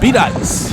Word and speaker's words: Bedias: This is before we found out it was called Bedias. Yes. The open road. Pronounced like ice.